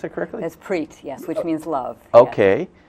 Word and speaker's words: Preet: play sacred music band called Preet is that pronounced a curriculum that's preach yes which means love okay oh that's a